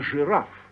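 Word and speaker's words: жираф: and G thus in giraffe a giraffe it looks like giraffe but it's pronounced giraff yes similarly the word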